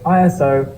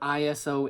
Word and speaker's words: ISO: Like I said, the industry has never said it as a word. We've always said it as letters. Is it possible to fully understand what ISO is, even if you say it as a word?